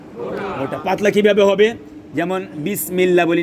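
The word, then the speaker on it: بسم الله: জের লামে আল্লাহ পাতলা লামে আল্লাহ ডাইনি লামে আল্লাহ পাতলা লিল্লাহি লিল্লাহি লিল্লাহি লিল্লাহি এখানে আকার দেওয়া যাবে এখানে আকার দেওয়া যাবে যেমন বিসমিল্লাহ আমরা বলি এভাবে লিখি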